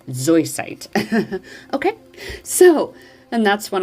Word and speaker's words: zoisite: And a lot of times I used to say it ziosite. It is not spelled that way, y'all. It is spelled Z-O-I, zoisite.